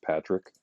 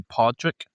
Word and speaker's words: Padraig: that it was pronounced Patrick. But he wanted to spell it like your name. And no one ever I pronounce it a bit long. It's more technically supposed to be Podge-rick.